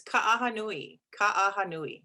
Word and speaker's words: Kahanui: oh sure sure absolutely it's kahanui you have to pronounce everything so just think of an aha moment thank you thank you